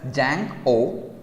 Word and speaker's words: Django: web development okay so django is pronounced as jank o d is silent okay django it's not